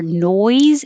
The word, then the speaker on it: noise: For noise, you need the oi vowel, and that is a